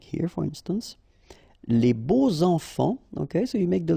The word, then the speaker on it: beaux enfants: And here it's quite interesting because even if you've got this X, well, phonetically it will be like Z, so like if it would be an S, okay? Les beaux enfants, all right?